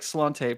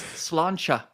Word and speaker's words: Sláinte: which is uh crap, it looks like Slante, but it's not that. It is pronounced. It is. Oh, it's Slancha.